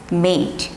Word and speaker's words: mate: Like M-A-T is mat, but when there is a E, then it is not mat, it's mate.